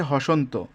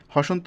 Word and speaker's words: হসন্ত: স্মরণ করিয়ে দিচ্ছি যেমন যদি এখানে যদি আমি হসন্ত না দিতাম তাহলে কি এমন উচ্চারণ হতো হসনত তো এজন্যে এখানে অটা